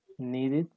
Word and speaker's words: needed: Needed. Bueno, aquí cuando el verbo termine en D, la E sí se pronuncia, pero se pronuncia como I.